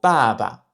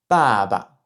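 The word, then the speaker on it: 爸爸: C'est un son entre le B et le P en français, donc plus pa, pa, pa. On peut prononcer le mot baba, qui veut dire papa en chinois, baba, baba.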